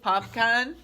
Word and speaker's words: Popcaan: would be hilarious if Popkin is how you say it popcaan plays Sebastian the crab dar would be funny can you imagine I would love it mr.